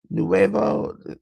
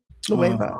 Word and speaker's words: Nueva: And for the AAA World Tag Team Title 4-way match, we had Picano and Psycho Clown defeated Nuevo. Am I saying it right? Nueva.